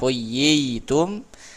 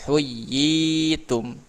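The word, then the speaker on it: حُيِّيتُم: Tidak huyitum, tapi huyyitum gitu.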